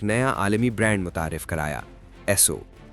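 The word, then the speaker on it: Esso: عالمی برانڈ متعارف کرایا، ایسو۔ یہ نام دراصل ایس اور او یعنی اسٹینڈرڈ آئل کا صوتی تلفظ تھا۔ امریکہ کے باہر جہاں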